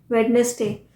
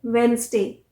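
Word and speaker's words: Wednesday: ड साउंड है ना वेडनेसडे वो आ ही जाता है कि मैं वेडनेसडे को गई थी बिल्कुल भी ड साउंड नहीं है वेनसडे वेनसडे वेनसडे ज का साउंड है ड नहीं है वेडनेसडे पर हम हमेशा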